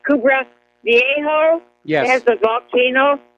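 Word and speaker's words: Cumbre Vieja: I think it's pronounced Kubra Viejo.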